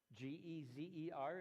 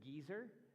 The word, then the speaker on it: Gezer: The city gate of a city named Gezer, G-E-Z-E-R is how it shows up in English. Some of you may, when you read your Bible, pronounce it Geezer, but it's Gezer.